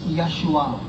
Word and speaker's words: Yeshua: savior is called Jesus Jesus Telugu is Yeshua Yeshua that's the actual name pronunciation for Jesus keep that name in